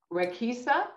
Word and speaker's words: Raqisa: And she is a program specialist for cardio yoga and RAQ the barre by, it's pronounced RAQISA? Yes, rock the barre by RAQISA.